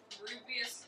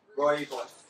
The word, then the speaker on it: Rooibos: Lizzie says rubious tea. I never know how to pronounce that. Rooibos? Rooibos.